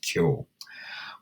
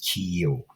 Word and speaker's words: Keogh: Irish people would know how to pronounce that as Keogh, whereas non-Irish people, certainly Americans, would always try to overemphasize every vowel in an Irish name. Hence, we arrive at an American version, Mrs. Keogh.